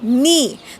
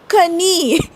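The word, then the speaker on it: knee: उच्चार होत होता तसच गुडघा म्हणजे नी तर आधी लोक काय म्हणायचे कण आय नो इट सा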